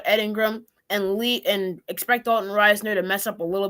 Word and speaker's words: Risner: I finally pronounced it Reisner because I give up. Everyone says Reisner. I was stuck saying Risner, so it's Reisner now for me.